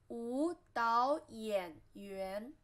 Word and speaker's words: 舞蹈演员: And then dancer, 舞蹈演员. Here, two third tone, you should pronounce the first one into second tone, 舞蹈演. And the dao is in second tone too, because here's the third tone, 舞蹈演员, 舞蹈演员, dancer, 舞蹈演员.